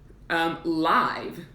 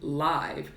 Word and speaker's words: live: can have the adjective live, The words are spelled the same, but they are pronounced differently. Live and live.